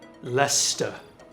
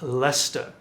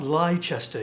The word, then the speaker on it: Leicester: have done this year Lester it's pronounced Lester not lie Chester you bloody Americans it's